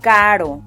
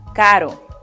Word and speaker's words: caro: To get that soft R sound, you can think about the way many Americans pronounce words like butter or better.